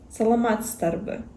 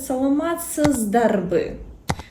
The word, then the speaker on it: саламатсызбы: Саломатрбы з имеет свойство оглушаться. Саламатзрбы мы могли бы сказать, если мы говорим чётко, внятно, как написано. А саломат старбы с вот эта з она оглушается. Саламатц старбы. Ни один грыгс не скажет саломат србы. То есть это уже как произношение.